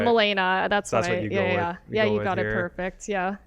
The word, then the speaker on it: Milena: It was like Milena. It's just the Serbian version, but Milena.